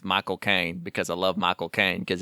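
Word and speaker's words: Michael Caine: Kane because I love Michael Kane because if you say his name right it sounds like you're saying my cocaine and the the trailer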